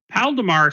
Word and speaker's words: Paldemar: Paldemar sounds like pal of ours.